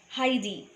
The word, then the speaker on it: Heidi: the lesson now Heidi it is to be pronounced Heidi is the story of a little girl named